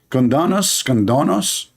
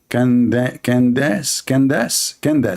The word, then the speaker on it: Candace: Condonos? I want to share my condolence with your mom about having a kid like you. Her name is Candace, Candace.